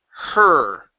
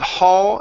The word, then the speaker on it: her: there you go so you don't want to stay too wide if you stayed too wide it comes out as ha or whole which is which are which are different words ok so instead of hall it's her her or ok now with